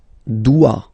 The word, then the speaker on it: dois: Je dois. Okay, remember final S is not pronounced. Je dois. OE, when you combine the two, you get the sound wa wa wa.